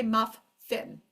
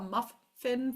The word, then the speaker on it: muffin: a word like muffin we do not pronounce both the fs so we do not say muff fin muff fin can I have a muffin for breakfast we don't